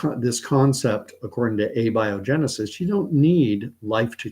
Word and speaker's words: abiogenesis: but doesn't matter uh the theory is called a biogenesis I used to say abio Genesis but I've heard I've been corrected and told